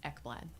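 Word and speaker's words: Ekblad: your last name again e kbl l a d is how it's spelled and it's pronounced eblad okay thank you never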